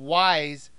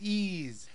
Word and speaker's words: Ys: have to comment that even though the game looks like it should be called wise they pronounce it ease this game was originally